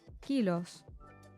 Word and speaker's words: kilos: is the S kilos is the same as in English except the pronunciation of the O changes to O kilos your is two bag